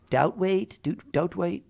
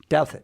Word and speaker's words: Douthat: She is Ross Doutwaite. How do you say it? Douthat.